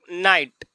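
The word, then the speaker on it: knight: उच्चारण नहीं किया जाएगा अगर कोई भी स्पेलिंग में के के बाद एन आ गया के के बाद अगर एन आ गया और एन के बाद कोई भवेल आ जाएगा तो के का उच्चारण नहीं किया जाएगा जैसे एग्जांपल में ले लेते हैं जैसे नाइट के एन आई जी एच टी ये नाइट के स्पेलिंग होता है नाइट इसको पढ़ेंगे इस नाइट का मतलब होता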